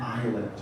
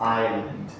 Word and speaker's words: island: how would you uh the picture shows an island I think most of you pronounce this island okay it's pronounced island with silent X Island anyway this is the